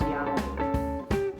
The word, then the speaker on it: Yahweh: or Yahweh so to think of God as Yahweh better say it correctly first is to think